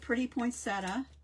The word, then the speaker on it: poinsettia: And then here's the poinsettia or settia, depending on how you pronounce it and um Jamie and Wendy both used this set.